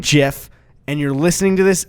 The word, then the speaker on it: GIF: that it's like well the person who made it pronounces it jiff I don't care you